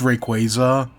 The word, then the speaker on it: Rayquaza: And that's what like there are some that I will fight on like you know Rayquaza. It's Rayquaza. Re ice is one I know I'm pronouncing wrong and I yet I will still pronounce it wrong.